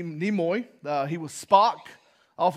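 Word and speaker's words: Nimoy: another moment to live I always say his last name wrong Leonard neoy NE nemoy uh he was Spock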